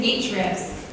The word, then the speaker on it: Ahrefs: the official pronunciation is h reps switches h uh the letter h and refs yeah just a just